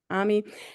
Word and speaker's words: Ammy: So that was that one and Lamar Institute um and is it Amy Army? I'm I'm sorry if I mispronounced your name. Please say your name. Ammy.